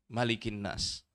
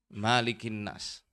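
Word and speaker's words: مَلِكِ النَّاسِ: mananya panjang apa enggak ada yang baca panjang ada yang pendek malikinnas malikinnas jadi kalau saya lebih kependek Ya malikinnas jadi malikinnas ini rajanya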